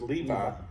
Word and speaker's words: Levi: Levi l e UI but that would be pronounced Levi at that time in the English language yep